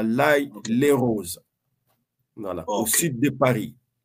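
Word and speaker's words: L'Haÿ-les-Roses: la ville c'est euh on l'appelle l'ail les rose mais on prononce nous on prononce vaguement les les rose donc c'est à l'ail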